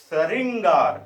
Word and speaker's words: श्रृंगार: अब इसको अगर पढ़ेंगे, इसका उच्चारण करेंगे तो क्या होगा? श्रृंगार। क्या बन जाएगा? श्रृंगार।